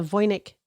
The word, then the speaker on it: Voynich: going to be about the voic manuscript yes and we kind of decided that or we figured out I think that that's kind of the closer pronunciation than whatever I was saying last time okay that's we're